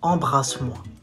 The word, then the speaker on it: embrasse-moi: You say embrasse-moi. Not bra, not bra, bras. Embrasse-moi. Embrasse-moi.